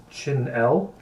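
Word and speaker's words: chenille: wolf chick wants to um clarify that it's pronounced chinel chinel is it c h e n i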